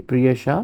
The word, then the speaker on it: Priyasha: evening good evening sit down prha am I pronouncing your name correctly priha yes sir all right so priha we'll like